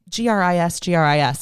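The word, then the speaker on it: gris-gris: So Gris, and it's Gris.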